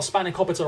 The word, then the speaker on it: spanakopita: By the way, that's how it's pronounced. Yes, I got spanakopita right.